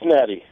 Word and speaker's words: Natty: line and am I pronouncing your name name correctly Natty or is it natti yeah it's Natty Nat Natty